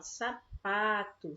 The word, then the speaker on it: sapato: não fala sábado e a gente não fala sapatão nem sapato a gente fala sapato certo sapato a gente pronuncia o saco e o Tom rápido né mas o pa agente demora mais então e os a e o Tom são as sílabas átonas e UPA é a sílaba tônica certo por isso nessa